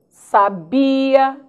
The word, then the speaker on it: sabia: vamos alguns cuidados cuidado conheça a posição da sílaba tônica de algumas palavras sábia sabia sabiá Olha lá como é importante conhecer né a pronúncia para não errarmos na hora de uma acentuação misther Nobel ureter ruim